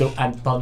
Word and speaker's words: Antonio: Antonio.